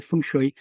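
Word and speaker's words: feng shui: We I mentioned I think it's pronounced funue, but funue basi. What are those things? Oh, and pronunciation is fine. Everyone get gets it wrong. I say funue, which is close to the Cantonese, but I mean I I'm no speaker of Chinese.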